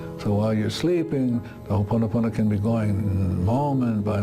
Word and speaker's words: Ho'oponopono: Some pronounce it Hokapiki, some pronounce it Ho'oho, so I'm going to tell you the correct way to pronounce it. It's Ho'oponopono. And what does Ho'oponopono mean?